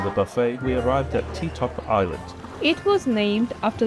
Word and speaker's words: Ti Top: It was supposed to be named Todd Island, but perhaps it became Tik Tok because they couldn't pronounce the V sound.